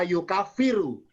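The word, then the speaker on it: يُكَفِّرُ: Bisa yakfuru, bisa yukafiru. Ya. Dari fil kafaro yukafiru. Kalau fa-nya bersida bertasdid, kafaro yukafiru. Kalau fa-nya nggak ada sidanya, kafaro yakfuru.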